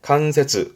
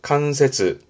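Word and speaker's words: 関節: 이게 관절, 뼈 마디마디 관절에 칸세즈, 칸세즈.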